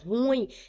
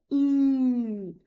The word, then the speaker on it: ruim: A pronúncia correta é essa, ó, com a sílaba tônica, sendo a última. ruim.